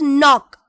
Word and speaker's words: knock: Knock or knock. It is knock. So K is silent here.